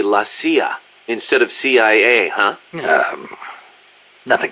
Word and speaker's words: CIA: here they say la Sia instead of CIA huh nothing strange about it that's how it's pronounced when you read it in Spanish it has the feminine